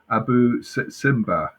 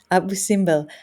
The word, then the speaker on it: Abu Simbel: Eugene says, "Did you visit Abu Simba? It's his most favourite place in Egypt. Is that have I said it right?" Abu Simbel, Abu Simbel, yes, it's one of my favorite places as well, Eugene.